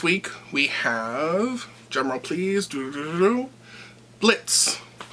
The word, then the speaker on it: Blitzø: This week we have, drumroll please, Blitz, or as some people call him, Blitzø, but the O is silent.